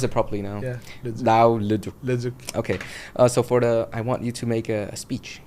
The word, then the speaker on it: Leduc: Okay, I'm gonna pronounce it properly now. Yeah. Leduc.